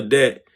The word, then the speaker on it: debt: But if you go into a debt to, and I want to put the B in the word debt so bad, y'all, you feel me?